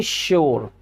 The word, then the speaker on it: sure: चौंकाने वाली बात है कि यहाँ पे वर्ड स्टार्ट होते हैं एस लेटर से, पर उनका प्रोनाउंसिएशन किससे आ रहा है? उनका प्रोनाउंसिएशन जो साउंड उनका आ रहा है वो शा आ रहा है।